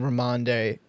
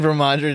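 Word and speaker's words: Rhamondre: But I'm still I'm still trusting Ramande. Raande Ram. Okay, say his name right. Start him. I'm I'm still trusting Ramandre to get into the end zone this week.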